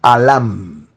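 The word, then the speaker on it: אלם: mismo vocablo Elohim es la expresión alam alam alam se escribe con al la L y mem al lam y mem Qué traduce esta expresión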